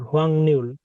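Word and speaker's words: 확률: Wang নিউল। হ্যাঁ, হোয়াং নিউল। রিওলটা দন্তনের মতো উচ্চারণ হবে। এখানে গিয়ক থাকলে অথবা ইয়ং থাকলে রিওলের উচ্চারণ দন্তনের মতো হয়ে যাবে।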